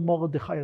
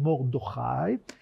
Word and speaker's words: Mordecai: "In Shushan the palace there was a certain Jew, "whose name was Mordochai," that's how I was told to pronounce it, Dan Caner told me it's not "Mordecai" but "Mordochai", "whose name was Mordochai, the son of Jair,